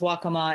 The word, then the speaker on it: Waccamaw: County California and I think also is it Waccamaw in North Carolina Teresa I'm not sure you mean the pronunciation or the tribe the tribe both actually yeah it is pronounced Waccamaw and yes they are from North Carolina okay